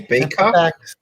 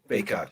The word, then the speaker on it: Bacot: Did you say his name was Bacot? No, Bacot. No, I'm not trying to make fun. Like I actually. No, yeah, it's bacon without the N. It's just a T. Oh, okay. Bacot.